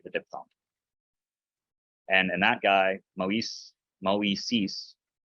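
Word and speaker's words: Μωϋσῆς: And that guy, moisis, so that you don't make a soup sounding diphthong, so you don't go musis.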